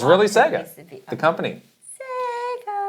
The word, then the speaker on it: Sega: I'm mis I got to do the right uh pronunciation of Sega. Sega. I gotta do it right next time. It's not It's really Sega.